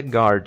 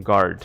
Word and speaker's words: guard: A gente tem um U, então em português, quando a gente falaria algo como guard, não, em inglês é guard, esse G-U-A, né? Nessa palavra vira G, então guard, ok?